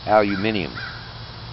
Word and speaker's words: aluminium: Is that like aluminum? Aluminium. Well, that's how the Brits say it.